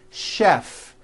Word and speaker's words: chef: are a couple of words that are spelled with ch and are also pronounced with the sh sound words like chef and the City of